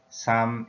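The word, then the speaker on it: 삼: teach like this saksam suk means three sum is the pronunciation and chinese pronunciation in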